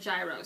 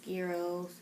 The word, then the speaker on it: gyro: was cheap okay so you use the american pronunciation of i think you said gyros so how how do we use that word um yeah like more like gyro that's how i say it yeah that was